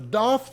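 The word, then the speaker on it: Daith: these look awesome now the doth piercing or wrongly pronounced death piercing is the inner part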